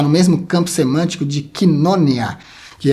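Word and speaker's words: κοινωνία: O termo grego quina está no mesmo campo semântico de quinonia, que é a palavra que você conhece como koinonia. A pronúncia correta é quinonia.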